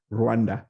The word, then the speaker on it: Rwanda: I want to say it like they do. Rwanda.